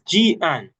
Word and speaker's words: Jihan: It's Jihan. That's how you pronounce Jihan. It looks so different from how it's pronounced.